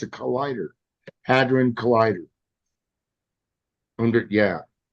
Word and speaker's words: hadron: colander yeah yeah the collider it's a collider hadrin collider under yeah it's actually underground too why